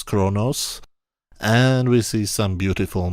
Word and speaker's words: Qo'noS: A few shows later it will be called Kronos, Q-O'-N-O'-S, pronounced of course Kronos, and we see some